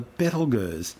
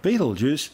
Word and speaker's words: Betelgeuse: Interestingly, both the name Betelgeuse and its more common pronunciation of Betelgeuse are both tortured mispronunciations of its original Arabic name, Yad al-Jaza or Ibtal Yazi, meaning the hand of the big man being Orion the Hunter.